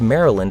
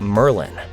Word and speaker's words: Maryland: I met playing basketball who pronounced Maryland like Merlin.